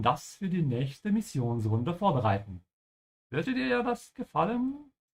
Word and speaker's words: vorbereiten: It's a separable verb, so make sure you emphasize the beginning, vor, and pronounce the V like an F, yeah? And the O also has a slight W sound at the end, you notice because of the R, so vor, yeah?